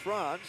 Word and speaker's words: France: So Victor France, which is spelled like France, the country, but pronounced Franz.